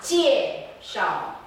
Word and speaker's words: 介绍: So 我给你们介 and then relax 介绍 Okay, what you're doing is 我给你们介绍 Okay, you don't emphasize the last syllable. This is your first language acquisition. 我给你们介绍对 Very good. 对介绍 Do the gesture.